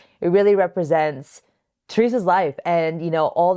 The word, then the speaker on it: Teresa: I always go between saying Teresa and Teresa. So if I do a little hybrid, it's because I'm like shy to say it in the Spanish way because I'm like, am I saying it right?